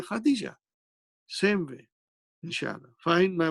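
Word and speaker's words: خديجة: You did not pronounce this ta at the end. Samaniya, Tis'a, Ashara. You did not pronounce the same way as you don't pronounce Aisha tu, you say Aisha. Khadija tu, you say Khadija.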